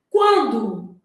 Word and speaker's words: quando: Quando o U é pronunciado aqui, ó, quan, né? A gente fala esse U, o N não, quando.